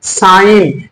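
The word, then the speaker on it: sign: साले कब होता है जब किसी लफ्ज के आखिर में एन से पहले जी हो तो जी हब साइलेंट होता है मसलन साइन में जी एन से पहले है इसलिए साइन पढ़ेंगे साइ नहीं पढ़ेंगे ऐसे डिजाइन नहीं पढ़ेंगे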